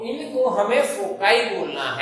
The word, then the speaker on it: foci: तो इनको हमें फोकाई बोलना है, क्या बोलना है, फोकाई।